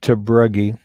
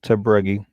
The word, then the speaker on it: Tabruggi: Tabruggi is how I pronounce it. Yeah, it's pronounced Tabruggi. It's a Dutch name, actually, is what it is.